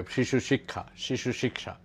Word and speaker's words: Shishu Shiksha: I pronounce it the Bengali way, Shishu Shiksha.